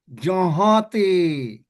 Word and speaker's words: যাহাতে: কেন? চন্দ্রবিন্দু আছে। হ্যাঁ, যাহাতে উচ্চারণ হবে, যাহাতে।